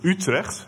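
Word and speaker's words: Utrecht: bck and I'm from the uh University of utre as it is pronounced uh in the beautiful country of uh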